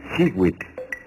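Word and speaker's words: xihuitl: Cada cuadrete contiene el color turquesa, que se pronuncia Siwit.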